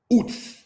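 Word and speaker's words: Uz: Ooze, it is pronounced, brothers and sisters, as Oots. Because this letter here, the Zadeh Sofit, makes a like TZ sound, if we will.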